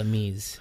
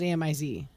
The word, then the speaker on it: amis: purchased so yeah anyway they're called a me's so if you want to say friends that's what it is how do you spell it yeah i thought it was amiz no no no there's no c there's